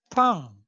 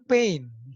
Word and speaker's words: pain: Dalam bahasa Prancis, ini cara bacanya adalah pang ya. Jadi pang itu bukan pain, seperti dalam bahasa Inggris.